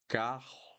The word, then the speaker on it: carro: So here in all these words at the top, the sound will be very similar to hotel, hotel, hotel.